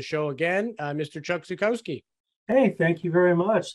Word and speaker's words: Zukowski: back on the show again uh Mr Chuck zukoski hey thank you very much thank you for